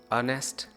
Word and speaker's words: honest: And sometime H is not pronounced in the several words. Just remember the article an is used in consonant sound. Honor, our, honest, air.